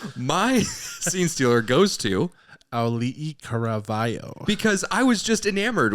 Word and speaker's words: Auli'i Cravalho: Auli'i Cravalho.